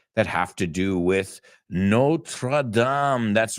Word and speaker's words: Notre Dame: we talk about it the real pronunciation is Notre Dame but in the United States we say Notre Dame and I think it